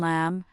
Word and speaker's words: lamb: When you see MB at the end of a word, like in lamb, comb, or thumb, the B is almost always silent.